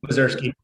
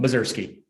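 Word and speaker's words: Mozyrsky: could you tell me how to pronounce your last name? Are you there? Mazursky. No problem. Mazursky.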